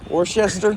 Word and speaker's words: Worcester: He was one of the missionary, there's just a couple, John Ross and John Samuel, I cannot pronounce his last name. Worcester?